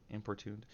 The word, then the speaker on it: importuned: word because I'm like I'm pretty sure I'm pronouncing it wrong in pertune importune okay importuned we're going to learn a harass someone persistently